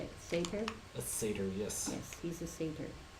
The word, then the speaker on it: satyr: A satyr, yes.